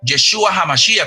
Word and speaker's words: Yeshua HaMashiach: Jesucristo en hebreo se pronuncia Yeshua HaMashiach.